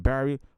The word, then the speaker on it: Barry: Barry.